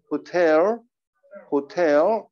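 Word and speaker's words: hotel: 자, 호텔은 강세가 어디 있다고 그랬죠? 여기 뒤에 있다고 그랬죠? 호텔, 호텔 이렇게 발음해 준다고 했습니다.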